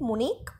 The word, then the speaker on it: Munich: Again, this H is silent, Munich, where Einstein's family had moved when he was 15 months old.